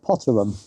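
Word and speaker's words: Potter Heigham: And the next place we will pass will be Potteryam. Although it's been suggested to me, but it's not actually pronounced Pottery. Apparently the locals call it Potterum which is no surprise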